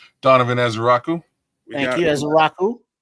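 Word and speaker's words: Ezeiruaku: Edge uh how you pronounce his name? Donovan Azeraku.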